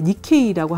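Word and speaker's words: 日系: 이렇게 정착을 하면 이 사람들이 2세라고 해서 이제 이 2세를 이제 니케이라고 하는데, 일개라는 거를 이제 이런 식으로 읽는 니케라고 읽고, 그래서 이 니케이 음식이 이제 페루에도 어느 정도는 자리 잡았는데요.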